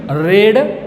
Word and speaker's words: read: Read, read, pronunciation read, R-E-D, like, but spelling is same.